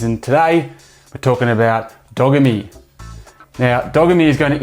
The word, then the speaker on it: Dogami: talking nft games and today we're talking about dogamy now dogamy is going to introduce the world to the pedoverse and you should know that it is pronounced dogamy not dagami which is what i first thought dogami sounds